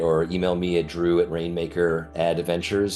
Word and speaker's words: Rainmaker Adventures: email me at Drew Rainmaker Adventures sort of like advertising Ventures is the play but it's spelled like Adventures um with a I love it